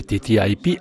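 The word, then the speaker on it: TTIP: sua comparsa una nuova sigla tt ip pronunciata anche all'inglese tta ip è che indica il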